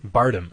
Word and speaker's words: Bardem: How do you pronounce his last name? Javier Bardem. Bardem.